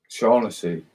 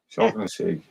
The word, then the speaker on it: Shaughnessy: taught me how to pronounce his name earlier. Shaughnessy. Shaughnessy.